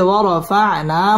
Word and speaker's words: ورفعنا: ওয়াও ঠোঁট গোল করে উচ্চারণ করতে হবে। ওয়ার, র পুর হবে। ওয়ারফা'না মধ্যে তবাই এক আলিফ টেনে পড়তে হবে।